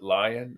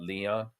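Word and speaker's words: Lyon: Copley against the um I think you pronounce it lion and not Leon uh but uh you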